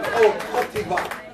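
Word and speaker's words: Côte d'Ivoire: Pop over to Ivory Coast or Cote d'Ivoire.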